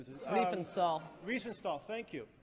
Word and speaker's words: Riefenstahl: And her name was Rennie, I can't pronounce the last name. Riefenstahl.